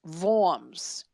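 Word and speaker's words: Worms: financiers uh gathered around bonk forms that's the french pronunciation forms is w-o-r-m-s and led to a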